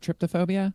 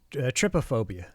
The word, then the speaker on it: trypophobia: I can't pronounce that tryptophobia. trypophobia.